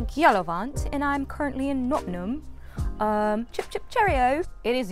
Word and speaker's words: Nottingham: So I'm currently in Nottingham, England, locally pronounced Nottingham.